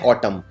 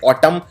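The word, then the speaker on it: autumn: लिखते हैं ट्यूएम और इसमें सबसे कॉमन गलती यह है एम के बाद देना है यह उच्चारण नहीं किया जाता सिर्फ बोलते हैं और टर्म लेकिन आखिर में MB जाता है और बिल्कुल इसके मिलता जुलता शब्द है जिसको बोलते हैं कॉलम प्रॉब्लम के अंदर भी आखिर में एन आता है और इस LMB का उच्चारण नहीं किया जाता है तो यह कॉलम और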